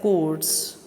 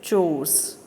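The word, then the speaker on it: chores: ये जो वर्ड है अभी से देखेंगे हम, इसे नॉर्मली हम प्रोनाउंस करते हैं एज अ कोर्स, बट the right pronunciation is चोर्स.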